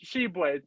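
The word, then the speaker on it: Tshiebwe: It's Sheboy. T silent. Is that okay? It's Sheboy. I thought it was Sheboy, but the commentators, when the game I was watching the other day, just said Sheboy.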